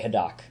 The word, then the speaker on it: Haddock: and stuff so also grey haddock is the man or grey hadak as i learned yeah i've been saying it wrong for a year it sounds kept up